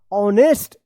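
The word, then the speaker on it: honest: पढ़ेंगेस्ट ये गलत हो जाएगा इसको पढ़ा जाएगा ऑनेस्ट एच ओ एन ई एस टी ऑनेस्ट young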